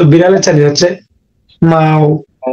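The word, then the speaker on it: 猫: মাও এটা হচ্ছে ফার্স্ট টোন, এই টোনটা হচ্ছে ফার্স্ট টোন, উচ্চারণটা হবে মাও। মাও মাও হ্যাঁ, বিড়াল যেমন ডাকে ম্যাও ম্যাও করে, সেম কিন্তু এই শব্দটা কিন্তু এরকম আসতেছে, ম্যাও, এটা হবে মাও।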